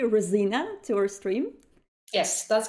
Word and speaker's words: Resina: hello everyone and welcome rosina did i actually pronounce it correctly rosina to our stream yes that's correct that's perfect